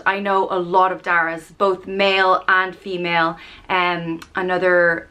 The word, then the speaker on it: Darragh: Obviously, Darragh means oak tree, and it's pronounced Darragh. Darragh. Typically it's spelled D-A-R-R-A-G-H.